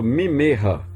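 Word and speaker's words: ממך: Eu tenho dois M's aqui.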